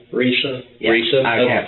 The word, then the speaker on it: Risa: Lisa, with the R. Risa?